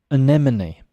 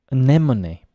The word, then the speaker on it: anemone: English people from abroad or non-native speakers uh anemone anemone it's a type of flower that can be